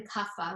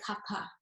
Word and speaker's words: Kapha: So it isn't even Kapha, like PHA, which we often say. It's actually Kapha. So the H is silent and soft, but it does get in there.